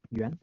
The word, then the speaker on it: Yuan: How about Jan? I think I said it right. Yeah. What about you? Yeah, it's Yuan, but it's all good, bro.